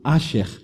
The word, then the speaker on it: Asher: Essa palavra significa, escrito em hebraico, A-S-H-E-R. Brasileirada, transliterada, a pronúncia poderia ser Asher.